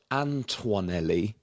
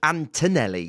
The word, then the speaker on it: Antonelli: its own emergency podcast you've been you've been saying and I quote anelli which a lot have but it's actually Antonelli we think yeah I